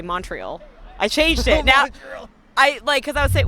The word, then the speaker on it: Montreal: Montreal. Yes. If you really want to press them, it's Montreal. What? Montreal. Montreal? Montreal. Montreal. Montreal. That's how they say it.